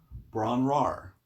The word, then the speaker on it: Bron-Yr-Aur: right so the name of the song is pronounced apparently bron rar so and as evidence for that um here